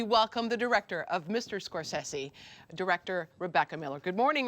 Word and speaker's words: Scorsese: What is the right way to pronounce Mr. Scorsese? Scorsese? Scorsese, I think. Okay. Because I've heard you say Scorsese, but I can see how